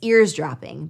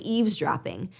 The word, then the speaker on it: eavesdropping: Because again, we just think it's ears dropping, but it's actually eavesdropping, but we think we're saying it correctly.